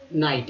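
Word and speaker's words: night: Next देखते हैं, तो दोस्तों ध्यानपूर्वक देखेंगे, ये देखिए रात्रि है, नाइट। यहाँ देखिए IGHT को देखें, इसे पढ़ते हैं हम लोग आइट।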